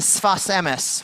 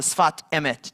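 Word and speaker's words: שפת אמת: Rabbi Yehuda Aryeh Leib Alter, known as the Sfas Emes, or the Sfat Emet, depending on how you say it, took it one step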